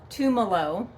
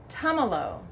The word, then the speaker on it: Tumalo: Okay, so this is not pronounced Tumalo. No, it's not pronounced Tumalo. Don't think of tamales. No, that's not right. It is pronounced Tumalo. So think about having Tums in Tumalo.